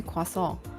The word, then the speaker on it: croissant: Is it like a regular croissant? Cuz in a quason depending on how you pronounce it, the French way.